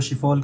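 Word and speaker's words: Schiphol: जो एयरपोर्ट है वो शिफॉल करके कुछ नाम है। मैं सही से प्रोनाउंसिएशन नहीं कर सकता क्योंकि वो डच वर्ड है, तो शिफॉल ही पढ़ते हैं उसको मोस्टली लोग।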